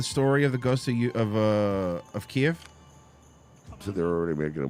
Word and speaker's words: Kiev: It's always going to be Kiev, by the way. I know that's the Russian pronunciation.